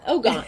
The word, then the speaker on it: Ojai: Yeah, Ojai.